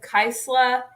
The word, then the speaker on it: Kysela: and I only did that because I couldn't pronounce it if I'm being honest with you um but he said kaisler that's right because so he said that was